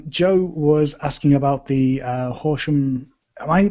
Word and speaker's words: Horsham: And speaking of Sussex, Joe was asking about the Horsham. Am I pronouncing that right? Sorry, is it Horsham co-working events or?